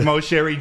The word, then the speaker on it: Moceri: This is Giovanni Moceri. Yeah. Did I pronounce that right? Yes, you did. Moceri.